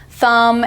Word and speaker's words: thumb: spelling we have the final MB as in Lamb thumb and comb the B is silent at the end we have the initial